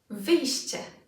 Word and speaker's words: wyjście: First off, let's have a couple of examples of such words with sh, sh. Let's take a look at maybe 4 of them. Number 1, cześć, cześć. Number 2, wyjście, wyjście.